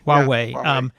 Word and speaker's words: Huawei: And I think your example of how do you pronounce it? Huawei. Huawei.